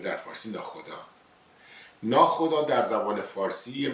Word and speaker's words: ناخدا: در مرور زمان ا واش یواش یواش ک تلفظ نشده شده ناو خدا ناخدا ناخدا شده ناخدا و الان ناخدا یک به